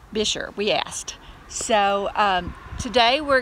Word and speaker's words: Buescher: at the top because it is not pronounced the way that it looks. It looks more like Boscher or Buescher, but it's Buescher.